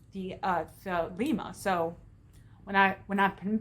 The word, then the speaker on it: Thelema: of Lon Milo DeQuette's things, and he says Thelema. So when I've been pronouncing it the other way, that's been wrong. So I want to correct myself. Thelema, according to Thelema, there are three major aeons that are the focus.